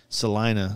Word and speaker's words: Salina: And then, like, I started putting this trip together, and I always knew you were out of Salina.